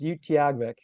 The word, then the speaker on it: Utqiagvik: Uh, it's pronounced Utiag.